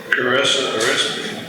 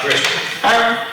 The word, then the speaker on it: Carissa: Carissa. You'll say my name right someday. Not Christian.